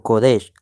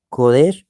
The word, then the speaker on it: Kodesh: Es Kadash o Kedash o Kodesh. Ambos tres términos se pueden pronunciar. Kodesh o Kadash. ¿Ve?